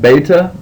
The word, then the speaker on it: beta: letter is beta and beta when you see it in the word it sounds like the b in Bible makes a b sound beta your next letter is